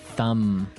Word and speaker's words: thumb: of this word no I actually only pronounce the M the thumb the thumb